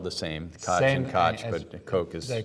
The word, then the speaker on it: Koch: but his name spelled the same day and koch koch is a coke brothers of course I mean the Koch brothers